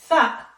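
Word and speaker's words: ثاء: And here you have to put your tongue between your teeth. So you say Tha, Tha. It's exactly the TH like the TH in teeth.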